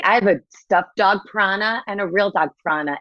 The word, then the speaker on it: Prana: Prana, exactly. Yep. Prana. Is it like a piranha or is it a prana? What do you think? Prana is her stuffy. Exactly. I have a stuffed dog prana and a real dog prana.